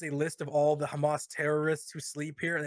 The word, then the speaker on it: Hamas: This guy, this IDF soldier, he's like, we are currently in a Hamas, because they say it like that. They don't say Hamas, they say Hamas, right?